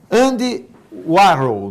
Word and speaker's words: Andy Warhol: E só para eu se lembrar, o Brigado da Daiane levantou, Andy Warhol, não é?